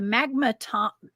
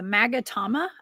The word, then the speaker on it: magatama: it like this: the Magatama. The Magatama, I think is how you say that.